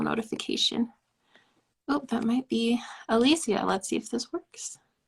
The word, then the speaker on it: Elysia: Hi, Elysia. Hi. Am I saying it correctly, or is it Elysia? Yeah, the first thing's correct.